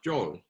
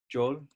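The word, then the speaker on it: 卒: what that character is called in korean it's pronounced joel joel joel and it's an interesting character because uh in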